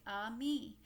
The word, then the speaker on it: ami: The word is ami, my mom says. You say it like ami.